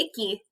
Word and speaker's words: Icky: kid his name is icky say hi to icky hi icky his name is at the top